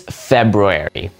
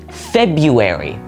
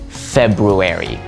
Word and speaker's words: February: This one is very similar to library in that many people will say February just because it sounds a bit easier to say, but the right way to say it is February. I'll say it again, February.